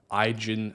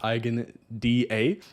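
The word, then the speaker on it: EigenDA: look at next is ien sorry igen I think it's pronounced igen da which is a uh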